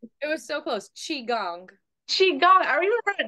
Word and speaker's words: Qigong: The one you did today, it's Ki Chong. I don't want to say it wrong. It was so close. Qigong.